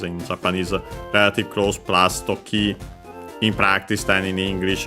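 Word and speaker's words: 時: First it says Tokini. And yeah, first we have Toki on its own accent on the last syllable.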